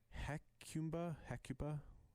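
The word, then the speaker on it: Hecuba: his mother was hectum heck heck Cuba yeah you said that right I said it right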